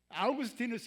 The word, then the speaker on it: 아우구스티누스: 아구스티누스 한번 잘 몰라. 근데 아구스티누스는에 라틴어고요. 라틴어로 아구스티누스라고 발음하는 거고요. 영어로 발음하면 어거스틴입니다.